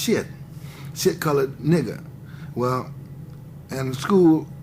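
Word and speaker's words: Sthitt: Maxwell can call me, it's spelled S-T-H-I-T-T, but it's pronounced shit.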